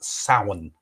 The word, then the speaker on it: Samhain: a thing called it's spelt samhain but it's pronounced sauen which was the old ancient like you said